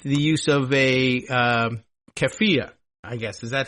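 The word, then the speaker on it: keffiyeh: use of a um keia, I guess. Is that how we're pronouncing it? I I you know, it looks to me like Keia, but I think it's kafia.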